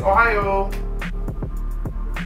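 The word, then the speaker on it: おはよう: you're good to go ohio you might have heard that before but ohio means good morning in japanese crazy right so all you got to say is ohio yeah it's a state and it's a way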